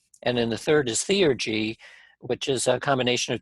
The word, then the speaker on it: theurgy: So we have divination, force of will, and am I pronouncing this right? Theurgy. Theurgy.